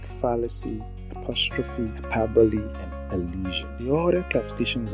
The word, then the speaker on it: hyperbole: Note, the pronunciation of hyperbole should be hyperbole, not hyperbole, as we often pronounce it sometimes.